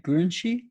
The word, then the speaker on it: Gurunchi: So does the Gurunchi people? Am I saying it right? Gurunchi. Yes, Yeah. that's right.